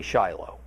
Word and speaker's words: Shiloh: We say Shiloh.